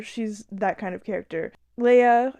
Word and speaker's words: Lia: Leia, I think that's how you pronounce her name. It's spelled Lia.